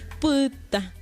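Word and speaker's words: pytã: Puta. La Y, que es P, y la A final nasal, puta.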